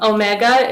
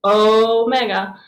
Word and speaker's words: omega: half the line um omega is a long o sound so remember they sound like how you pronounce them oh mega makes no sound like ocean or tone this is omega sigma